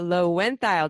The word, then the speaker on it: Loewentheil: episode time and I just learned the proper pronunciation of Cara's name Cara low went dial did I do it did I do it